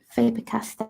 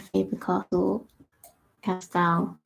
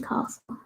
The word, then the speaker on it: Faber-Castell: I mostly just use the Caran d'Ache Illuminance and Faber-Castell. Why keep saying castle? Polychromos. Sort of spelled like castle, but it's not.